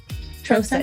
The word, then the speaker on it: Troseth: with the long o troce that's correct and the h is silent oh trosette uh i didn't know